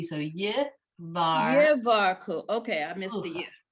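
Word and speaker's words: יברכוך: So you have to pronounce the yud at the beginning. So Yivar. Yevarku.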